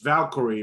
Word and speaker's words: Valkyrie: It's Valkyrie, bro. Valkyrie? Like Flight of the Valkyries.